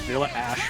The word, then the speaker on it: Vanilla H: Vanilla H is pronounced Vanilla Ash from Galaxy Angel anime. Is Galaxy Angel made by the French, perhaps? They don't pronounce the H at all, so it'd be Well, Vanilla. I mean, no. If it's like Ash is the letter H in French.